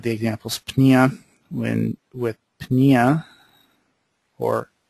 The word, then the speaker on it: pneumonia: When with pneumonia, or most people don't pronounce the P very well, meaning breathing, and then Arthur meaning joints.